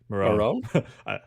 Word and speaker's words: Morrone: Morrone.